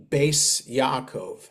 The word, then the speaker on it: Beis Yaakov: But the Ashkenazi way is a letter Tuf with a dot is a T, a letter Tuf without a dot is an S.